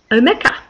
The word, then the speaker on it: Omeka: storage database um solution I used to call Om a apparently that's pronounced omea and the last one I'm pretty sure I'm